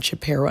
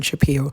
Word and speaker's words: Shapiro: i am aware that ben shapiro's name is pronounced ben shapiro and not been shaping however i couldn't care